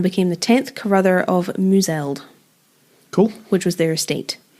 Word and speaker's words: Mouswald: the 10th Carruther of Mouseld. Cool. Which was their estate. But it's spelled Mouswald. Oh. By checked, and apparently it's pronounced Mouseld.